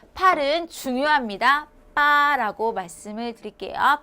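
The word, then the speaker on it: 八: 이래서 손동작도 치라고 하시면 됩니다 자 팔은 중요합니다 빠라고 말씀을 드릴게요 발음이 빠 자 일단 중요하니까 별표 크게 두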